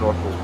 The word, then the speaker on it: Norfolk: See, to me, it's Norfolk. Yeah, It's Yeah, it's Norfolk. Norfolk. Yeah. Norfilk. Norfolk. That's how I say it. Norfik.